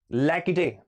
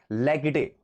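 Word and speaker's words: laïcité: ये एक वर्ड है, कहा गया भाई लैकिटे, LAICITE, लेकिन ये फ्रेंच वर्ड है। ये क्या है, लैकिटे, एक फ्रेंच वर्ड है।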